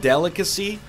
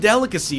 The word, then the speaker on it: delicacy: feel like the word delicacy is so beautiful it's got a soft C and a hard C right next to each other and it just feels nice coming off the tongue you know delicacy doesn't it sound like